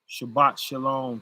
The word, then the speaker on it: Shabbat shalom: Shabbat shalom, sister.